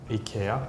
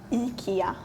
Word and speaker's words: IKEA: re say it again Ika so we pronounce the I very strongly Ika sometimes like in Swedish